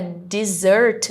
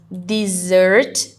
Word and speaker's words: dessert: Then she asks, would you like a dessert menu? So, don't forget, dessert tem 2 S's e a gente coloca a sílaba tônica lá no final, então dessert é sobremesa, right?